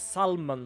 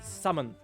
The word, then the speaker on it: salmon: not English which mean when I see Sal salmon I read it as salmon because I see an L but apparently summon or a spaghetti me